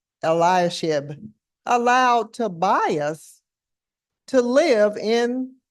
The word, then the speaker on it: Eliashib: you know that Eliah how is his name pronounced eliashib allowed Tobias to live in the temple so